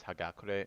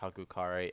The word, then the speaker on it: Hagakure: that the correct pronunciation of this book is hagakure not haukar as I mispronounce throughout this recording in future recordings I